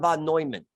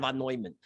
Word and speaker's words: Neumann: So when you see John von Neumann, that's how they like to pronounce it, John von Neumann.